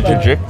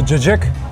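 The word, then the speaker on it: cacık: The jajjik. The jajik.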